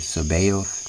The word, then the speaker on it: Sabaoth: This is, how you pronounce it, Sabaoth.